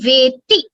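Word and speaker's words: वेत्ति: Veti alla, it is Veti because the ikara is hrasva. So when you pronounce it, others should hear you as hrasva.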